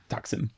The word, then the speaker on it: Taksim: Taksim. Yeah, Okay. correct pronunciation.